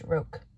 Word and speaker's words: roque: It's pronounced Roke.